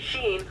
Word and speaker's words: Sheen: His name rhymes with bean. Lastly, within the second Jimmy Timmy Power Hour, there's a scene of Libby playing Ultra Lord, suggesting that she eventually came around to Sheen's interests.